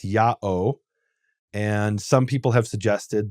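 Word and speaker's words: ΙΑΩ: name is written yota alpha omega which is pronounced yao and some people have suggested that that is a continuation of this Aramaic form yuhei yuhei vav.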